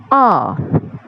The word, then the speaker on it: hour: Some years ago, I would study English for 1 hour. But now I teach English for 5 hours. यहाँ पे आ में H silent है, तो आप प्रोनाउंस करोगे OUR जो है उसको प्रोनाउंस करोगे R.